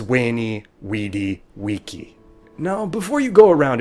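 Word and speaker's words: veni, vidi, vici: of this is why when Romans talked about conquering they said wink Ettie and wife caesar's phrase was wainy wedi vici now before you go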